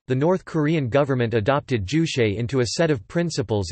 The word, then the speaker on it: Juche: Juche, Korean, Juche Zuti lit. Subject, Korean pronunciation, toot e, usually left untranslated or translated